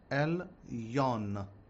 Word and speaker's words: Elyon: Okay, I'll say it slowly. Adonai Elohecha Elyon, with an N at the end.